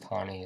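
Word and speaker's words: Taney: obviously Chief Justice tani in dred scott it's pronounced tawny it's spelled Tammy don't ask me why but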